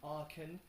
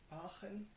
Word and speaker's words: Aachen: in English, so I'm just gonna say the German name, which is with a bit of English pronunciation, Aachen. Aachen.